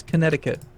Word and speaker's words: Connecticut: No, I'm pretty sure it's Connecticut. Yeah, that's how it's pronounced.